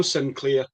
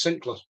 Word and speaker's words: Sinclair: And it's no Sinclair, it's Sinclair. Right? We're Scottish. Let's pronounce it right.